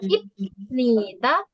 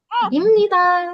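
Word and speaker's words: 입니다: Jadi ada rus ketika bieb ketemu sama dengan nion, maka bibnya akan dibaca miem imni gitu ya. Jadi emang ada rus rus-nya. Tujuan rose ini adalah mempermudah membacanya karena kalau dibaca ibnita bacanya susah. Jadi kita bacanya imita.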